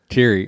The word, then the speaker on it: Thierry: It's teary, like teary-eyed. Thierry. Okay, Thierry. You'd think I'd know that by now. Yeah. Well, you don't say it often, so. That's true. So Thierry.